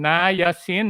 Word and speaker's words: niacin: just you just mentioned na yasin no na yasin you have three okay you have three syllables so that's vitamin b3 okay niacin is vitamin b3 it